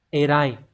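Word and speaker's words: 偉い: Như vậy thì chúng ta sẽ đọc là Erai.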